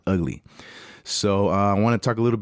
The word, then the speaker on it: VGLY: 5, and it's Ugly, spelled VGLY, but it's pronounced Ugly.